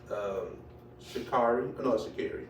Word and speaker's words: Sha'Carri: Sha'Carri. That's how she pronounces it.